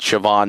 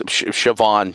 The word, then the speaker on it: Siobhan: Yeah, I think I said Siobhan. My apologies. Uh, it's Siobhan. Siobhan and the 300 other cars involved.